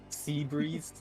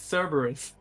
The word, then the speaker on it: Cerberus: Sea Breeze. I thought that's how you pronounce it. I've been pronouncing that one for the longest time. It's Cerberus. Now you know.